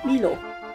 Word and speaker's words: Milo: in Malaysia we called it Milo(like the word "me", so "me-lo") Milo or Milo (with different pronunciation) So, for those who don't know what is milo.